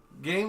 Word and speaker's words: Gein: When Robert Bloch wrote his classic novel Psycho, there's no question that his model for the Anthony Perkins character was Ed Gein, pronounced Gein.